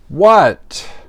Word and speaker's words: what: What? We don't pronounce the H.